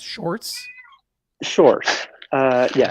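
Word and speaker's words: Sjors: And that's pronounced shorts. Shorts. Uh, yeah. It's like saying George with a very Dutch accent.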